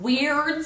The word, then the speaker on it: Wyrd: Now, y'all, it takes place in a little town called Weird City, and they spell that funny W-Y-R-D for whatever reason, and y'all, it is filled with fascinating characters.